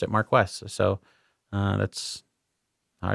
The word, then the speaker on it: Marquess: minor thing on you notice I mentioned the Marquess of Montrose you know interestingly I've always pronounced it Mark II but in the movie they pronounced at Marquess